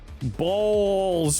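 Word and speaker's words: Bawls: Hey, it's pronounced balls. B-A-W-L-S. Balls.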